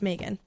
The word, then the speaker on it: Meaghan: Technically, if you're saying it with an Irish accent, which is what they named me after, is the Irish way of saying it, it's Megan.